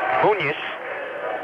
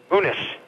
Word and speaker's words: Munis: and in is Devin munis not munis he pronounces it munes second free throw off